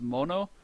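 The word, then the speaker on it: 者: Here we have sha, and I told you that by itself it's pronounced mono.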